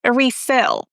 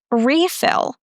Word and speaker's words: refill: stressing the second syllable, refill. But when we use it as a noun, we stress the first syllable, refill.